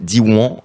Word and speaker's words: Diwan: cerveau à la prononciation donc c'est Diwan avec un petit n à la fin dit one donc un réseau d'école